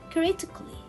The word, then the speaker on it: critically: this word i will read it as critically critically i will not read it create a kelly